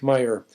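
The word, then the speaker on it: Meijer: Deadly Sport, by a history professor named Feek Meyer. Meyer is spelled M as in Minnesota, E-I-J-E-R, in case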